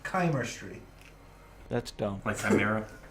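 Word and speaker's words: Chimerstry: coming up Oh so according to the actual White Wolf wiki it is pronounced Kaymer Street that's dumped my friend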